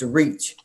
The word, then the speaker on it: RECH: We use the acronyms RECH, pronounced REACH.